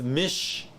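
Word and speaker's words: מִשְׁ: Mem is your consonant. Then you got your hirik, which is your I, a short I. Okay, there's only one I actually. Then you got your sheen, which is a SH sound. Okay, so consonant, vowel, consonant happens to be a short vowel. So this is mish, M-I-S-H, and then you have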